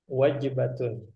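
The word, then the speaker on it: وجبة: Kam wajibah gitu bukan wajib. bukan wajibah, wajibatun.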